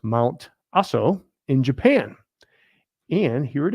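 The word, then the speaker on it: Mount Aso: a solar panel Farm I think it's pronounced mount asso in Japan and here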